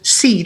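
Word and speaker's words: SEAD: equipment and appliance deployment initiative pronounced as seed for short we have two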